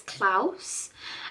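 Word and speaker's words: Klaus: another animated one um I'm going to say Clause is how you say or clous so it's k a sorry k l a u s I think it's clouse um but I'm not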